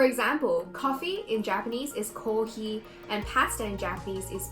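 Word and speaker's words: コーヒー: With the examples I just showed you, pasta is pretty straightforward, but with kohi, you have to elongate each syllable.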